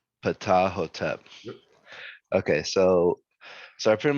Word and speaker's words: Ptahhotep: Yeah, Ptahhotep. Ptahhotep.